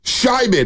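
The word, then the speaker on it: Scheierman: Baylor Scheiman is how you say it. Oh. The R's are silent.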